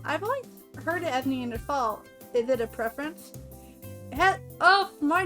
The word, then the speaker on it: Neanderthal: A preference, and there's no H sound when it's pronounced in French and German.